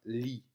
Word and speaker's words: li: Et donc, ce I va se prononcer de manière analogue avec le I français, donc I. Et donc, le mot se prononcera li.